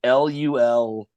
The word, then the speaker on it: Louisville: So it's essentially like LUL-VUL.